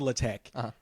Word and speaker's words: LaTeX: It's spelled latex. L A T-X. But it's called Latte.